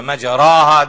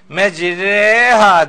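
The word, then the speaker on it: مجراها: binin me diye okunur O işte öyle mecraha diye okunmaz o orada bir imale vardır imale tecvidin kurallarındandır mecrea demek İşte o geminin böyle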